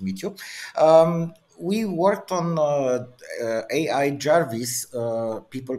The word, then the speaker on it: AI Jarvis: People pronounce it, but we made a small joke because it's not Ai Weiwei as people thinks. It's I because it's a Chinese name, and Jarvis because it's an American name, and it's not necessary from Iron Man.